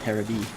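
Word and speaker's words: テレビ: And yet, television is still pronounced Terabi over there.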